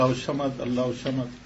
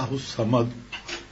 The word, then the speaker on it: الصمد: خیال آیا کہ صحیح لفظ تو ہے اللہ الصمد. یہ اللہ الصمد تو یہ لفظ تلفظ صحیح نہیں ہے.